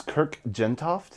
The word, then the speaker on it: Kirk Jentoft: what is your name and how do you spell it um my name is kirk gentoft that's k-i-r-k j-e-n-t-o-f-t sweet and uh this is